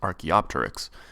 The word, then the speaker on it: Archaeopteryx: lack of transitional fossils Archaeopteryx and yes it's pronounced Archaeopteryx was discovered just two years after Darwin's research